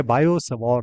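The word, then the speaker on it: Biot–Savart: इज बायो सवार लॉ इसमें T silent है फ्रेंच वर्ड है बायो सवार लॉ तो आप प्लेलिस्ट में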